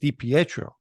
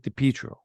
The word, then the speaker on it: DiPietro: the robbery the Petro's last name is actually pronounced Dipietro but everyone in the street pronounces it depietro in this picture they're